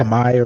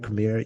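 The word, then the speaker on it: Khmer: sure how because I I heard like k hamir is one I hear commonly but I wasn't sure if that's exactly how they say it. Um are you talking you talking about Cambodian people? Yeah. Kamay kamay kamir. Yeah. So that's what I was saying. I was thinking it was like kamay or something. Yeah. Yeah. So it's either one.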